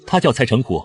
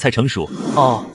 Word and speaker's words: Cai Chenghu: Senior Brother Ye, Cai Chenghu , his name is Cai Chenghu, not Cai Chengshu.